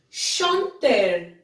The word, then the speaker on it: chanter: Next we have is chanter. Chanter, which means to sing. Okay, in my previous videos, I told you that the sound of CH, it's not ch, it's sh. So it will become chanter.